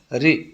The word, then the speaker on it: ऋ: जैसे हम जानते हैं री से ऋषि जो है, जब हम इसका उच्चारण करते हैं तो इसका उच्चारण होता है री, तो री की आवाज़ आती है, इसीलिए इसको उच्चारण की दृष्टि से स्वरों में शामिल नहीं किया गया है।